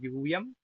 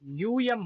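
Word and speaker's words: यूयम्: कि है त्वम युवाम युयंम देखो युयंम होता है युयम नहीं युम यकार जो उकार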